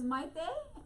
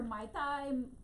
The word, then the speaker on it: Maite: My daughter's name is Maite, and nobody says it right. They say her Maitai, matey, mate, anything.